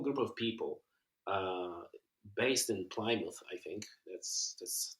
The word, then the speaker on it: Plymouth: And you mentioned that you guys are like a small group of people based in Plymouth. I think that's how you pronounce the name, right? Plymouth, yep. Plymouth.